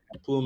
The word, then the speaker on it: Plume: Uh we're on Ethereum layer twos right now and plume plume is a layer.